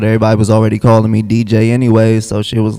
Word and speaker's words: Deejai: I was like that's DJ the prince is that how you pronounce your name am yeah that's how you pronounce it for show y me